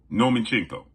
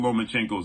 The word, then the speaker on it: Lomachenko: Nomachenko. They don't even know how to pronounce Vasyl Lomachenko's name.